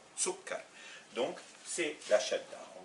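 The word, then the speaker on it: سكّر: Ça nous fait sukkar. Et donc, si je ne mets pas la shadda, je dirais sukkar, ce qui n'est pas la prononciation arabe. Sukkar.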